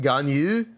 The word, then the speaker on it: Ganyu: Why am I pronouncing Ganyu like that? Because that's her name. There's like a enunciation at the end of her name. It's like Ganyu in Chinese.